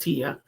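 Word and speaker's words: Tea: And it's T-E-A. I know it's pronounced Tia, but it's T-E-A.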